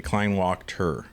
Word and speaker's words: Kleinwachter: Anthony Kleinwachter. Had him here. I feel like I added the syllables incorrectly. Kleinwachter. That's perfect.